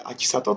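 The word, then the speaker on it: 秋里: この漢字で秋里と読みます。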